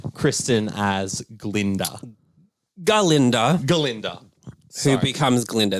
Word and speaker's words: Galinda: Galinda. Who becomes Glinda. There's a reason why we say her name as Galinda. Okay. And why she decides to be like, it's just Glinda.